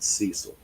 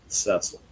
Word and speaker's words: Cecil: said hi or Cecil is it a long e is it Cecil or